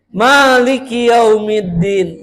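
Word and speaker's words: مالك: Kenapa Alfatihah bunyinya kayak gimana? Maliki yaumiddin. Makanya panjang. Boleh dalam sebagian ee riwayat bacanya pendek. Maliki yaumiddin. Betul. Tapi di riwayat Hafz an Asim bacanya panjang. Maliki Yaumiddin.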